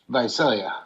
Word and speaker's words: Visalia: Let's go next to Donnie from, is it pronounced Visalia? Visalia? How do you pronounce it? Visalia. Visalia. Okay, good.